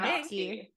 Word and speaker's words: Aronofsky: So How do you pronounce Darren's last name? Darren whatever. Aronofsky? Yeah, Aronofsky.